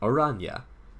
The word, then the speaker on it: Oranje: Orange is pronounced Oranje.